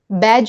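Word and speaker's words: badge: इसी तरह बैज में भी ड का प्रोनंसिएशन नहीं है।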